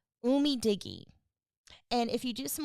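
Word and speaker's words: UMIDIGI: to say it right, Umei Diggy. And if you do some more digging, I think it's um Digi, but Oh, Umi Digi.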